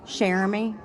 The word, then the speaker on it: Cheramie: How do you pronounce it? Jeremy.